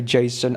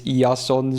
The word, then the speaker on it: Jason: So we got Mr. Yason, as I like to call him, but you could say Jason, I don't care. But in Japanese it's Yason, so that's how I've kind of grown used to saying his name, because, you know, Greek,